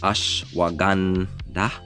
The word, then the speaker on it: ashwagandha: And ashwagandha, that's how it pronounced.